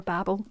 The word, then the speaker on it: Babel: is giving me Babel vibes or babble, however you want to pronounce it.